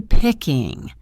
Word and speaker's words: picking: Are you picking? The end of the word picking may not have a hard G sound. For many speakers, it's a softer sound made in the back of the throat, pickin'.